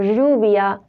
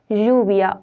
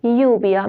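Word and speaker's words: lluvia: have an our alphabet whenever we have Double L that it's called a we should pronounce it or like Yia or juia means rain so dou l it's not called Le it's called or like the word juia or yubia means rain thanks for watching this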